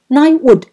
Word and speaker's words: knighthood: 词就是奖项的意思。Knighthood 是骑士的身份，这